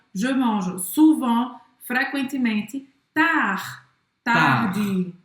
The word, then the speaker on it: tard: Tarde. Mas você não vai pronunciar o D no final.